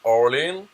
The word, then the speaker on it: Aurélien: Alors, Aurélien, il le prononce Orlin.